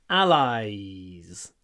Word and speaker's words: allies: must help our allies again lots of Y in this one Ally and then a little Z at the end allies allies hold the Y hold the Y that will sound more natural it's not just allies like like Russian I I allies allies we must help